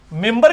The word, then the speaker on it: منبر: ممبر کے سپیلنگ کیا ہے؟ منبر, لیکن پڑھا کیا جاتا ہے؟ کیوں؟ کیونکہ نون کے بعد, نون ساکن کے بعد با ہے, یہ نہیں ہوتا لکھا جاتا ممبر, بلکہ کسی اردو چیک